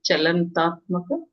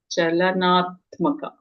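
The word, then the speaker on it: चलनात्मक: Chalantatmaka. Is that how you say it? Chalantatmaka? Chalanatmaka. Chalanatmaka. So, karma is in the form of activity.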